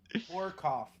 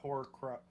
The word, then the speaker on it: Horkoff: Horkoff, not Horcruff. Yeah. We're adding the second R.